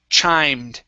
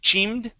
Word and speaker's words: chimed: all right very good this word is pronounced chimed instead of chemed okay a long i sound bruce chimed in bruce